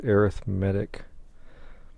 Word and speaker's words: arithmetic: yeah it looks like arithmetic but it's being used as an adjective and when it is so used it is pronounced arithmetic sequences have terms that